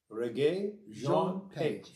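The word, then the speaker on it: Regé-Jean Page: I didn't know what it was, but it's Reggae Jean Page. Reggae Jean Page. Yes. Okay. So he's watch it along. We're going to say it with us. Reggae Jean Page.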